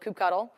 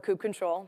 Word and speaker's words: kubectl: If you already have the local command line tool, which is called kubectl, or kube control, depending on your pronunciation, if you already have it on your system, you don't have to run that again.